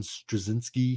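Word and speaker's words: Strahovski: That Yvonne Straczynski. I believe that's how you pronounce her last name.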